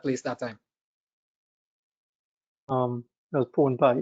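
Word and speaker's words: P4wnP1: P4WNPI, Pwn Pi, yeah. Not like Trinidadian pone that you usually cook and bake, but it's pronounced the same way, Pwn Pi.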